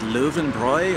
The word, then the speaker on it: Löwenbräu: That was an Americanized version of this long-standing German beer mark, they would call it, and pronounced a little bit differently as Löwenbräu or Lion's Brew.